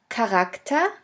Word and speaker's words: Charakter: In the third case, the CH can also be pronounced like a K if it is at the beginning of a word. Here we have the example of the word Charakter, which means character.